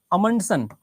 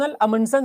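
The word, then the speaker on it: Amundsen: व्यक्ति का नाम था रोनाल्ड अमंड सन या कई सारे लोग रोनाल्ड अमनन बोलते हैं पर रोन अमनन सही उच्चारण है उसका यह पहला व्यक्ति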